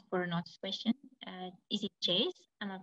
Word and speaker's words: Jez: Is it Jace? Am I pronouncing your name correctly?